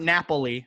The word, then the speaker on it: Napoli: Is it Napoli? Napoli. Yes, Not perfect. Napoli, Napoli. Like Napoli. Monopoly, but with no mun.